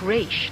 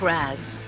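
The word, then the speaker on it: Ra's: to say it right the father's name was pronounced reach not rags Thank You Talia thank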